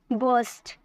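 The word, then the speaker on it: burst: उसे हम बोलते हैं बस्ट क्या बोलते हैं बस्ट आर साइलेंट होता है ठीक है फटना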